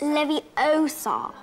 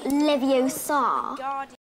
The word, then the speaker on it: Leviosa: you're saying it wrong it's leviosa not leviosa this is my house